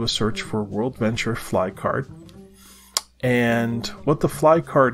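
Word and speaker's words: Flye card: That brings us to way number 12, and that is to get a fly card. Fly card is spelled F-L-Y-E.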